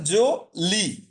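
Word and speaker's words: je lis: Problem প্রথমে হচ্ছে জো লি। ওযে ফরাসিতে আমরা হচ্ছে বেশিরভাগ ক্ষেত্রে দেখবেন শেষের যে বর্ণটা থাকে ওটা উচ্চারণ হয় না এখানে লিজ হবে না যলি মানে হচ্ছে আই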